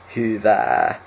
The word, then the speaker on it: hyvää: So for now, just remember, so y, hyvää. Really stress out the It's like you're screaming in pain.